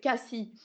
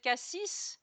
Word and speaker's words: Cassis: life I've said it CIS yeah but you know there there is no rule about the S sometimes you pronounce it and sometimes you don't it's it's just a